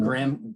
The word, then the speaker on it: graham: but this is called graham graham crackers the h is silent in this word i know that's unusual